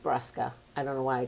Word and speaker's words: Brusca: I'm Brusca, and that's not really how you say my name. It's just Brusca.